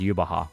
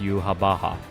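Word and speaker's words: Yhwach: It's pronounced Yubaha.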